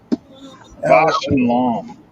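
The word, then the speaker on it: Bausch & Lomb: It's BAUSCHL. Bosch and Lom.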